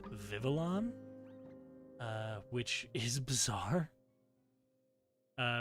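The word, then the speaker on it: Vivillon: people thought it was vavilon um I've always said vavilon because that just made sense but according to him it was just vivalon uh which is bizarre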